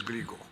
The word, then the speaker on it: Glico: Desde acá, Niccolo Glico. A ver, solamente quería... I figured out the pronunciation of your name is Glico.